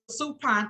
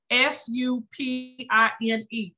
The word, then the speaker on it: supine: she's in a prone position here versus a Supine position here so if someone was to if